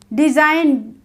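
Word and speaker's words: design: rule है हमारा जी जी silent कब होता है एन से पहले आया जी हमेशा साइलेंट होता है जब जी एन से पहले आता है तो हम उसका प्रोनंसिएशन नहीं करते हैं कैसे नहीं करते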